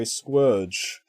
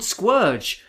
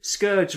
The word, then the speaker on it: Scourge: in the movie yeah unicron says squerge so all i can assume is he's he's actually called squerge we've been calling him scourge wrongly for years yep we've all been saying it wrong oh yeah i was